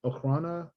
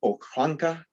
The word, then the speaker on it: Okhrana: Okhrana, sometimes they'll call it Okhranka. Okranka. You'll see it that way. It'll have a K-A at the end. But Okhrana. Russia's kind of strange with its pronunciation of O's. Usually they come out more like English A's.